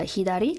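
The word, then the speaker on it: 左: an exchange and then we've got uh hidari left uh what is it so also sa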